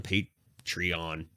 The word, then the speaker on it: Patreon: stream void pod on pete trion that's the word that's the word patreon that's a weird pronunciation but it's correct technically correct technically correct